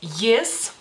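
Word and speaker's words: jis: Él el lituano es yes yes la letra j tiene ese sonido y como si ustedes se escribieran la y tal vez al principio digamos así entonces a la pronunciamos así Entonces él a pronombre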